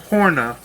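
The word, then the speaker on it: höna: that the word h-o-n-a the o has two dots up above it in sweden the original language of this breed of chicken and she says that it is pronounced horna um and so it's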